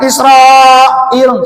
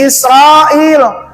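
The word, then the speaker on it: إسرائيل: Nah, di sini mad wajib muttasil. Gitu bacanya. Bani Israil. Jangan Israil, salah.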